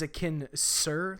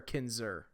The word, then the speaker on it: Kinser: is it kin is Akin sir like as a kid sir or Kinser yeah we pronounce it more with a z okay that makes sense